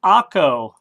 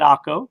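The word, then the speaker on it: Acre: he just goes over and stops it in akko which is spelled a-c-r-e and what is a famous almost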